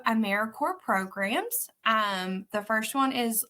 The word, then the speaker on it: AmeriCorps: We do pronounce AmeriCorps like Apple Corps or Peace Corps. It's not AmeriCorps, so we are alive and well.